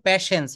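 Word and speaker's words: patience: প্যাশেন্স না এটা উচ্চারণ করতে হবে প্যাশেন্স এখানে টিটা এই টিটা হচ্ছে সাইলেন্ট থাকে বলতে হবে থ্যাংকস ফর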